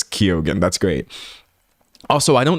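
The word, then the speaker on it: Keoghan: Uh these might be other valid pronunciations, but I mostly just default to how people pronounce their own name. So people in chat telling me Barry says Kyogan.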